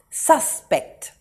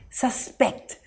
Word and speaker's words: suspect: scene the emphasis is on the first syllable sus suspect or can be used as a verb i suspect the man in a hoodie is the criminal the emphasis here is on the second syllable pect suspect how about i suspect that